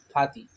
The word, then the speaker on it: partie: Section 1, द पाती system. फाती फाती कहते हैं इसको। ये फ्रेंच वर्ड है और इसका स्पेलिंग है PARTIE।